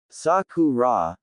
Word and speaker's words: Sakura: Saku rah," the boy said, pronouncing each syllable.